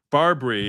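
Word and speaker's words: BarBri: Barbary is spelled BAR/BRI.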